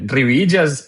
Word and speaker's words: Rivillas: Rivídias é a pronúncia original, mas tá de bom tamanho.